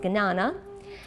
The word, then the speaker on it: Jnana: Jnana means knowledge, sometimes pronounced Gnana.